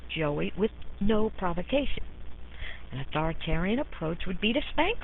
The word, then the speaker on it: authoritarian: not to be confused with authoritarian that rhymes with barbarians authoritative parenting encompasses all